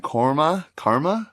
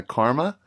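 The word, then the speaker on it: Qarma: In the women's division, you got teams that you'll know like Cube and Karma? Q-A-R-M-A. Yeah, Karma.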